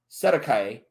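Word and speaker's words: cestui que: all of a sudden the ces to hua trust pronounced sedekai common term in new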